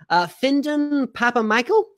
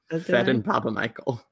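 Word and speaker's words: Phedon Papamichael: Findon Papa Michael? Nope. Fedon Papa Michael.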